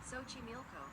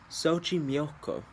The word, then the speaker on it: Xochimilco: Um We're going to get the pronunciation up real quick. There it is. Xochimilco Xochimilco New Mexico Um it's like a lake area, and they have that's where they're native to.